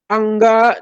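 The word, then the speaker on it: Aṅga: Tulisannya ANGA, ada titiknya di N. Jadi dibacanya mungkin Angga ya.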